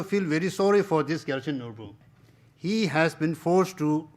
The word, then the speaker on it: Gyaltsen Norbu: I'm not sure I pronounce his name correctly. Gyaltsen Norbu? Gyaltsen Norbu, yes.